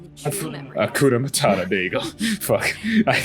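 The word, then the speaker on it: Hakuna Matata: Like, of course, you know, I as usual, I love like Akuma Matata. Akuna Matata.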